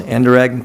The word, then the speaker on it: Anderegg: All of the commissioners are here, present live, as well as Town Manager Wade Yost, Assistant Town Manager Niles Anderegg. Did I pronounce that right, Niles?